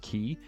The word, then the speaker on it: quay: Telling telling telling a dyslexic person that qu u a y is pronounced key is probably the ultimate you.